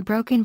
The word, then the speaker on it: Broken: The language is commonly referred to as Pidgin or Brokin, pronounced Brokin.